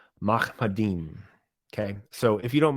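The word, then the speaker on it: מַחֲמַדִּים: So the phrase "altogether lovely" is pronounced Mahmadim.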